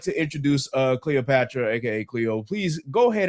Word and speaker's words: Cleopaxtra: would like to introduce Cleopatra, aka Cleo. Please go ahead and introduce yourself, man. Hey. As you said, I'm Cleopatra. My screen name is spelled Cleoxpatra, but the X is silent.